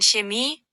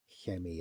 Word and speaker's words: Chemie: Incidentally, I pronounced the chemie a bit better that time. It's a chemie, not a chemie, but wow. Depends who taught you German.